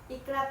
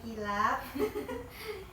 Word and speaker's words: iqlab: Iqlab ya, bukan kilap.